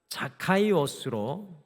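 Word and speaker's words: Ζακχαῖος: 성경 원회에 나오는 사교월라는 헬라의 이름은 자카이오스로이 말은 히브리어의 자카이를 헬라식으로 발음하는 한 말입니다.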